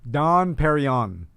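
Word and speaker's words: Dom Pérignon: so now who may have heard of that dom perignon okay so don perignon uh champagne made who's don perry don carry on my wayward son how do you pronounce it perryon don perrion correct that's pretty good i did not know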